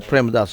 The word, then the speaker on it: Premadasa: to be played at premadasa Stadium I hope I've pronounced that correctly that's right that's the premadasa stadium um we had a